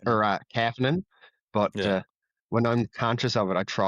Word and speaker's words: Kapanen: And he says that he likes to pronounce it Kapanen, which I try when I'm like conscious of it, but I find it really hard because everyone else that I've ever seen with that spelling is Kapanen or Kapanen.